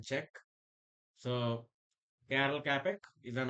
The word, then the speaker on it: Czech: Actually, Czech. It should be pronounced Czech.